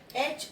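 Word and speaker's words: heir: में, यहाँ पे ये एच ई आई आर, इसे हम बोलते हैं ए, ये ए साउंड है, इसलिए यहाँ पे एन एर लगेगा।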